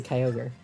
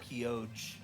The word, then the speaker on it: Kyogre: like seriously i i've never knew how to pronounce it for like the longest time like it's very obviously kyogre i call it keoge i remember as a kid i called ray